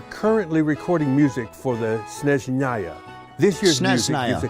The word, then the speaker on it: Snezhnaya: Have I been saying it wrong this entire time? That doesn't surprise me. It's SNEZHNAYA.